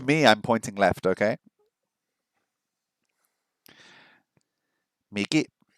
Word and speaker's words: 右: Niki, ue, shita. What was left? I've forgotten left already. No. Okay. Miki, Miki, Miki. Miki. Oh, wait. Am I saying it wrong? I thought it was Niki. It's Miki.